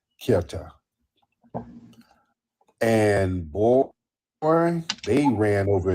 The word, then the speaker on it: Ceuta: Africa in the Spanish territory called Ceuta. It's pronounced different ways. People pronounce it different ways. Ceuta, Ceuta, Ceuta, Ceuta, Ceuta. People pronounce it different ways. I just say Ceuta.